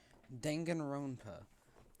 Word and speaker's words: Danganronpa: Danganronpa.